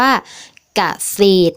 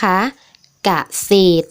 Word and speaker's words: เกษตร: อย่าง เช่น คำ ว่า เกษตร นะ คะ เกษตร ซึ่ง ถ้า นัก เรียน สังเกต นะ คะ ก็ คือ เรือ เนี่ย จะ อยู่ หลัง ตัว สะกด นะ คะ แต่ ว่า อา มัน จะ มี รูป รอ เรือ ปรากฏ อยู่ แต่ ว่า เวลา อ่าน เรา จะ ไม่ อ่าน ออก เสียง เรือ นะ คะ ค่า คำ